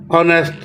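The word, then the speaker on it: honest: of water Sadia is ऑनेस्ट एन ऑनेस्ट ये H silent है और पहला कौन सा है ओ है तो यह एन ऑनेस्ट ग पड़ेंगे इस एच को नहीं पढ़ते होते द क्क ही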